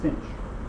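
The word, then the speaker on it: sinh: hyperbolic cosine the sign another another way that you'll hear it refer to is cinch this pronounced cinch uh hyperbolic cosine or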